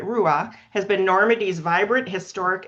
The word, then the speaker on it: Rouen: So, situated on the banks of the River Seine, Rouen, Roua is actually how you say it, Roua, has been Normandy's vibrant historic and cultural capital since the 10th century.